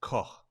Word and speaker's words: Koch: But what I thought Koch should point out that it's pronounced Koch, and you use the H as in from the word home.